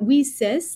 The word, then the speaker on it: WiCyS: spell that w-i-c-y-s and we pronounce it we sis like we sisters because that's exactly what